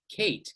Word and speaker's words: Kate: fully pronounceable in english we have something like kate k-a-t-e the name and we don't say the final e there are silent letters